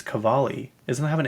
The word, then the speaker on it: Cavalli: Someone call it Cavalli. I'm like, why would you say it that way? Like, that's not even how you say it. It's Cavalli.